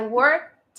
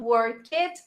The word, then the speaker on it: worked: put these words together, the past is worked. So we have the tate tito sound. It's not work it. Remember, it's just one syllable, not 2 syllables.